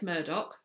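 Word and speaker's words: Murdaugh: watching the Murdoch trial Alex Murdock that's apparently how you say it I've looked it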